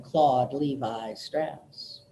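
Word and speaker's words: Claude Lévi-Strauss: guy was French and in France his name is clothed lemmie strokes clothed love eustress au is an O sound in French it's a much prettier name than Claude levi-strauss give you another one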